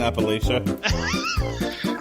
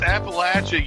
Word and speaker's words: Appalachia: Is that how you pronounce it in Appalachia? It's Appalachia, you uncultured swine.